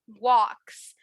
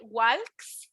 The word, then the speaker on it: walk: Nature walks. ¿Se acuerdan que ahorita les dije que talk no pronunciamos la L? es igual aquí. No voy a decir walks, voy a decir walks.